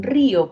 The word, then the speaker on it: río: En río, por ejemplo, sabemos que al inicio la vibrante múltiple solamente lleva una curvita.